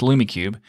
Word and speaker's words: LumiCube: I might have said it wrong, but I think it's LumiCube.